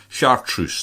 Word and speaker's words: chartreuse: I've just been saying chartreuse sh always get this wrong chartreuse chartreuse that's it when I when I can't pronounce this I always think back to what Clint Anderson said to me if it ain't sh truce it ain't no use so I'm going to